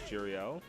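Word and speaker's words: Jariel: go my name is jarreal uh spelled gl uh j-a-r-i-e-l wow throw um the way that it's spelled it's like ariel with a j in front of it that's literally how i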